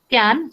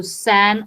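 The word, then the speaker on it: cyan: the basic colors are can so you can pronounce according to your own so San or can so can magenta and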